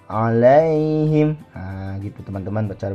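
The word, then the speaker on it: عليهم: bacaannya dan Mad layyin cara bacanya lunak saja seperti ini oleng him alaihim gitu teman-teman betul bacanya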